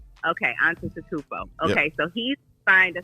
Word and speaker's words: Antetokounmpo: The G is silent like lasagna. Antetokounmpo. Yes, it's Okay, Giannis. so wait, pronounce it again, RC. Giannis, like with a Y. Giannis Antetokounmpo. Giannis, and what's the last name? Antetokounmpo.